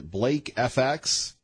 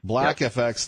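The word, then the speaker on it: BLAKFX: Sarah key let's talk a little bit about cyber currency you're the CEO and president of is Blake FX yeah black is like black FX thank you a little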